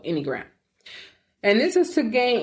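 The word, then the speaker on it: Enneagram: I'm going spell it for you. It's E N E A G R A M. Okay, so anyagram.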